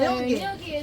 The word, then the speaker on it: Ngilgi: Gilgi? You were close. Yeah, Nilgi. So Nilgi is how we pronounce it. The first G is silent.